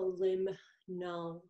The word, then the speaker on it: limnologist: Well, a limnologist, that's how you pronounce it, a limnologist.